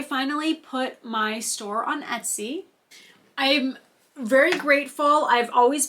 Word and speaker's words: Etsy: on like an Etsy storefront um you know Etsy takes like a much larger chunk for like